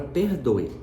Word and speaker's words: perdoe: fala então por exemplo pense na palavra perdoe quando a gente escreve a palavra perdoe a gente escreve com e perdo e ou perdo é né como você preferir porém se você observar na pronúncia a palavra ao invés de em português nós pronunciarmos esse e com som de e a gente pronuncia esse e com som de i pelo menos na maior